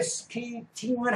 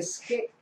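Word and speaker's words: skating: 하고 받친 발음을 합니다 근데 이것을 배울 때 스케이트 스케이트 가르쳐 주니까 뒤에 만약에 스케이팅을 한다는 스케이트를 탄다는 개념인 스케이 팅하는 것을 지금 스케이팅 하면 안 되는 거 스케잇 하고 받침발음 한 다음에 해야 되는데 이걸 스케이팅 스케이팅 합니다 그러면 똑같은 그 의미를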